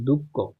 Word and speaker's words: দুঃখ: এই যে দেখো তো এই বিসর্গ থাকলে বিসর্গ থাকলে এরপরের যে বর্ণটা থাকবে এটা এই বিসর্গের পরিবর্তে বসে যাবে দুঃখ অথবা এটা এখন